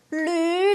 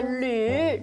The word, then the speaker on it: 吕: 阿妮，你要发音标准，是吕老师，隔壁班的男老师姓吕，双口吕的吕，吕老师。